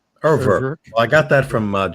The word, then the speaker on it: Urwerk: I would get to Urwerk before I got this.